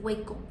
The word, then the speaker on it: Waco: Se escribe Waco, pero se dice Wiko en 1993, que pues es otra Z también que se radicalizó, pero ellos tenían armas.